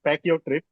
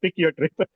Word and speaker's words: Pyck Your Tryp: People do pronounce like pack your trip, No, or I was just kidding.